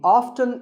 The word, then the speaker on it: often: but it's okay too next up is often some pronounce this as often now strictly speaking often is not wrong but the more common pronunciation is with the T silent so I recommend that you always say often one word that's often